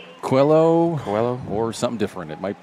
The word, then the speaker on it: Coelho: Coelho, C-O-E-L, Coel, like Noel. Noel, Coel, Coelho. Quello, or something different.